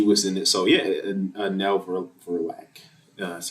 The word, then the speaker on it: Nell Verlaque: So yeah, Nell Verlaque. That's how you pronounce her name.